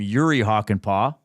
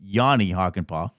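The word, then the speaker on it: Jani Hakanpää: Off air, I made sure that Zach knew how to pronounce Hockenpaugh's last name, but I called him Yuri Hockenpauh. His name is Yanni Hockenpauh.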